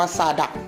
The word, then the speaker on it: Zadak: ครับ ยี่ห้อ ซาน ดัด แซด adha น้อง อ่าน ว่า ซา ดะ นะ ครับ แบรนด์ นี้